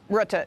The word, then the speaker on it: Rutte: Is it pronounced Rutte, Mark Rutte? Rutte, yeah.